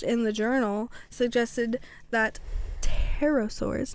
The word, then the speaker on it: pterosaur: Little tail, A little silent P. Early research suggested that pterosaurs were cold-blooded animals that were more suited to gliding than actively flying. However, scientists later discovered that some pterosaurs... am I just going to say it with a P?